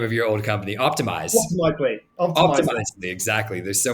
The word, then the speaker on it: Optimizely: You pronounce the name of your old company, Optimize. Optimizely.